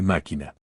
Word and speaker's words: machina: La che se pronuncia como se y como coejemplo machina se lee máquina.